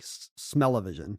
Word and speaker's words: Smell-O-Vision: smello Vision it was it was styled smell O vision but it was clearly a pun on television so I don't know if we're wrong to pronounce it to rhyme with television like smellivision smis are we going